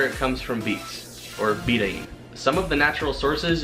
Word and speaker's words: betaine: be covering beating now I used to pronounce this betaine but I figured since I was going to be making a video about it I should probably look up the proper way to say the word bathing which is a lot